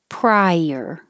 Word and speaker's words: prior: and rotation ladder splurge prior it's like two syllables because you're going up very high prior prior if it's